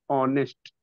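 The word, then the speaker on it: honest: से दिया हुआ है लेकिन एच यहां पर क्या होता है साइलेंट होता है और इसका उच्चारण होता है यहां पर से ऑनेस्ट ऑनेस्ट ऑनेस्ट उच्चारण होता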